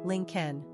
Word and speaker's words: Lincoln: pronunciation link Ken simple meaning Lake settlement characteristics of Lincoln imaginative